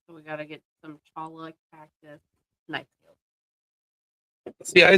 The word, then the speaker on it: cholla: It's probably pronounced chala, but spelled CHOLLA.